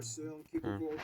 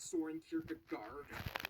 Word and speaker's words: Søren Kierkegaard: Hans Christian Andersen, philosopher Søren Kierkegaard, or whether... That's actually how you pronounce his name. Wow. It's not Soren Kierkegaard. It's...